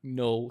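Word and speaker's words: Knull: true trivia false DL the name canull or null I'm saying null that's it's spelled canull actually means [ __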